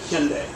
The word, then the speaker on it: Hyundai: Let's just do it together. Sunday, Monday, Hyundai. All right? Okay. It's Hyundai, pronounced Hyundai, not Hyundai.